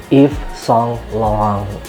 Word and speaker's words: Yves Saint Laurent: ada bahas part Universitas lorents itu dibacanya adalah if song long ya jadi Makasih buat